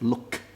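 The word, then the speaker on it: 六: six is look again I cross out the K so that you know you do not pronounce that look is just look seven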